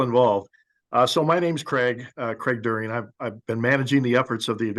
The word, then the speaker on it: Deering: And so we're happy to have CARB staff on the line, and in particular, Craig Deering. Hopefully I'm pronouncing your last name right, Craig. Good enough. During, yes.